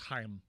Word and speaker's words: Chaim: It's pronounced Chaim.